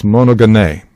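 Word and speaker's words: μονογενής: This word is monogene. And the accent is on the last syllable.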